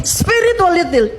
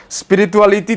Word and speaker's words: spirituality: Spiritualitil. Apa ini gak sopan? Oke, nggak apa-apa, kita tertawa sedikit dulu ya. Spirituality Tifa, bukan spiritualitil ya.